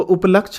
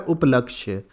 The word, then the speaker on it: उपलक्ष्य: चीज के उपलक्ष में तो वो उपलक्ष नहीं होता है क्या होता है उपलक्ष्य उपलक्ष्य लक्ष्य का मतलब